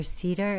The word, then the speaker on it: Sieder: name is an Cedar it's spelled s i e d r but it sounds like the tree and you can find